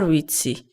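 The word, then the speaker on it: ვიცი: number no Mary are witzy let's first learn the new verb in the sentence I know witzy witzy witzy it has that sound that you first encountered in the world excuse me can you remember that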